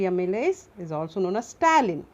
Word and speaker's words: ptyalin: So the salivary amylase is also known as ptyalin. P is silent, P-T-Y-A-L-I-N.